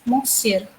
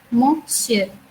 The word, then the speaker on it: monsieur: is monsieur. I repeat again, monsieur. It is also a nasal sound.